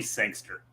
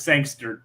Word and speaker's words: Sangster: Well, technically, he now goes by Thomas Brody Sangster.